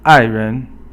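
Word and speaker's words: 爱人: And then the next one is 爱人. 爱人 is fourth tone, and then it's actually the ren is not second tone, but it's just a neutral tone.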